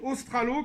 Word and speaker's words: Ostralo: Alors, la première chose à faire pour répondre aux questions, c'est d'aller bien sûr sur le site Ostralo, comme ça se prononce, O-S-T-R-A-L-O, et d'aller sur l'animation de chimie, avancement.